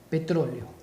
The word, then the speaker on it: petróleo: De esta forma se separa en sílabas la palabra petróleo y tiene la mayor fuerza de voz en la última, penúltima, en la antepenúltima sílaba. Es una palabra esdrújula y por eso se debe acentuar.